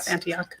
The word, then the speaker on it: Antioch: I think is how you pronounce it. Yes, Antioch.